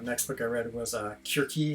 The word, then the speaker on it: Circe: Kirke. I think I feel like most people pronounce it Circe.